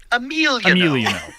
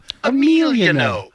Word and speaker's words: Emiliano: Emiliano. Yeah. Emiliano. It's like, I'm hungry. What are you hungry for? I'm hungry for a meal, you know. Oh, that's how we can all remember it.